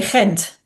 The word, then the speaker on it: Ghent: Well, in Belgium, you would say Ghent. Okay. Ghent. Ghent. Yes. Okay. Oh, different than how I think it's pronounced.